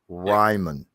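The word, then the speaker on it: Raimann: mon is his name ryman all right that's how you pronounce it uh i'll have to take me a minute to get you it's like r-y-e-m-u-n is how it's pronounced um it's austrian if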